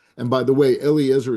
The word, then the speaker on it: Eliezer: And by the way, Eliezer is not the name, Judy, I didn't correct you before, but Aaron's son's name, Eleazar, who's the priest, is not the same name in Hebrew as Eliezer, although it's spelled funny in the translation, but they're 2 different names.